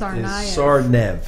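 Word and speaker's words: Tsarnaev: 19-year-old is uh zokar the last name the best pronunciation is sarv yes sarv without all the D's and all of that stuff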